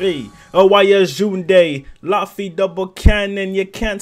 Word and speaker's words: Djoundi: DJOUNDI! I told you the D is silent.